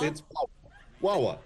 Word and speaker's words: Wawa: You say Wawa, you say Wawa. You say there's a stress on the second wa that you're saying Wawa.